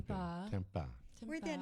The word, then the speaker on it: Tempa: it's not spelled like the food product. No, though. not tempeh. No, It's not Tempa. Tempa.